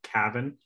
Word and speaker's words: Kavan: Yeah, it's pronounced Cavan, like as if you were to take the L out of Calvin.